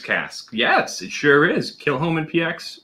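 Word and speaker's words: Kilchoman: traditionally it would be kill holmen kill holmen because you pronounce it as a guttural but for whatever reason they always pronounce it without the guttural so they say kill homan um kind of like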